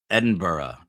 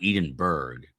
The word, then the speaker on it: Edinburgh: Edinburgh is how it is pronounced in the UK. Edinburgh, not Edinburgh. That's the Jersey in me, but I was close. It's not Edenburgg. Edinburgh.